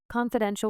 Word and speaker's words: confidential: Confidential with stress on den.